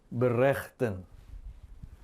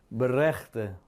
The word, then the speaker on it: berechten: Biasanya kalimat atau kata-kata ini yang berakhiran en atau en terakhir diucapkannya dengan bunyi yang lemah, hampir nyaris tidak terdengar sebenarnya. Ya, getuige, getuige, berechte, berechte, ya, pleiten, pleiten. Bunyi N-nya hampir tidak terdengar.